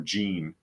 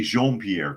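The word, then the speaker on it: Jean-Pierre: and by the way they'll probably pronounce the the name wrong and call her Jean because it should be Jean Pierre correct did you know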